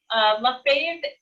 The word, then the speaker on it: Lefebvre: Lefebvre is my French surname. Lefebvre is how it's supposed to be pronounced, but my family Americanized it a long time ago.